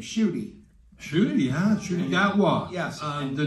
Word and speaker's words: Ncuti: No, and you told me that, and you'll have to pronounce his name, Ncuti. Ncuti, yeah, Ncuti Gatwa.